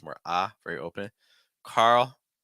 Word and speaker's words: Carl: more a very open Carl finished with a dark l so it's not Carl Know Carl Carl William common enough name in